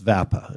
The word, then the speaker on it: VAPA: It figures that I would start off by mispronouncing VAPA, but it's VAPA.